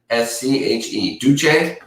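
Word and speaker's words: Deutsche: the complaint says duchenne how do you say that d-e-u-t-s-c-h-e douche i said ducks that's not right douche sounds wrong for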